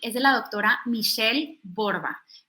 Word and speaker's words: Borba: de la doctora michele borba michelle m hl l borba como se escribe como se escucha con b de burro